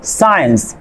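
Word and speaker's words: science: কিউ বা ঠি থাকলে আপনার এই সি লেটারটি সাইলেন্ট থাকবে। এখানে খেয়াল করেন সায়েন্স, মাসল, এখানে কি আছে, এস এর পরে সি আছে।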